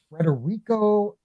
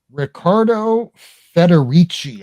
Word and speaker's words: Riccardo Federici: Here is the Federico. I'm always going to mispronounce this. Riccardo Federici. I don't know why I have problems. Yeah, Riccardo Federici. You said it right.